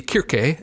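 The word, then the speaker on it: Circe: i'm not mistaken right so cersei kirke in um in the ancient pronunciation uh means something like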